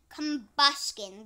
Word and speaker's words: Combusken: And Combusken, that is the name.